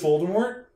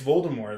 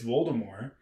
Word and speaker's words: Voldemort: you read it as Voldemort you were wrong yeah no you were wrong it's Voldemort like that's like that JK rling has said it's Voldemort you don't pron the t is silent but that's also my